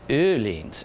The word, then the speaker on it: Öhlins: of the aleene's trailer it's pronounced aleene's in Swedish new leans so you can use